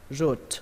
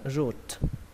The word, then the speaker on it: route: Các bạn đọc là route. Âm U nhé. Coi như âm O ở đây nó không tồn tại. Và âm E cũng vậy, coi như không tồn tại luôn. Chúng ta chỉ quan trọng âm U và âm T thôi. Các bạn đọc là route, route.